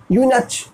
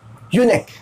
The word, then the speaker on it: eunuch: हा लगाएंगे आप, नेक यूनेक, इसे आप यूनच नहीं कह सकते हैं या इनच भी नहीं कह सकते आप इसे, क्या कहेंगे आप?